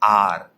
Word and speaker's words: hour: बोलते हैं तो हम स्पेलिंग होती है HOUR. स्टार्ट तो वो एच से हो रहा है, लेकिन हम फिर भी उसके सामने एन लगाते हैं क्योंकि जब वो वर्ड को हम बोलते हैं, प्रोनाउंस करते हैं, तो वो होता है आर. उसमें एच साउंड नहीं करता है, एच की आवाज़ नहीं आ रही है, इसलिए हमने उसके सामने एन लगाया.